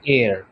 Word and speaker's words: heir: ঠিক একইভাবে এখানেও HEIR এর মধ্যে এইচটা সাইলেন্ট, তাহলে এটার উচ্চারণটা কি হবে? এটার উচ্চারণ হবে এয়ার। উচ্চারণটা কিন্তু হেয়ার হবে না, এটার উচ্চারণটা হবে এয়ার।